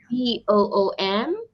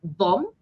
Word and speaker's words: boom: Okay, we have the word boom, Oh, B-O-O-M. So we don't call it bomb, but we read it or we pronounce it as boom. Boom. okay. You need to stretch it a bit.